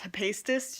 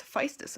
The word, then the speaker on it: Hephaestus: story the birth of Hephaestus side note i thought it was pronounced high-paced this just because latin pronunciation ph makes an aspirated p but no it's physis apparently so yes the